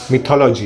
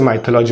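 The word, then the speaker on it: mythology: अगर आप मेरे पुराने वीडियो जाके देखोगे तो वहाँ पे मैंने इसे माइथोलॉजी बोला है, बट एक्चुअली इसका प्रोनाउंसिएशन मिथोलॉजी है।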